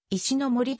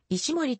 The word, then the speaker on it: 石ノ森: 由来するもので石森と書いて石ノ森と読ませるつもりだったが誰も石ノ森と呼んでくれず石森としか呼ばれなかったため初心に戻る